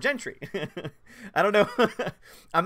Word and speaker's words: Gentry: um let's see will Gentry says thanks for knowing how to pronounce my surname lots people get it wrong seriously what do they say Gentry Soviets likes very straightforward Gentry I don't know I'm